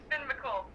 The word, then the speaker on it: Finn McCool: That's how you pronounce it. Yes. It's Finn McCool.